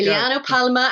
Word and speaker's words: Giuliano Palma: Giuliano Palma and the Blue Beaters Ke Cosa Che.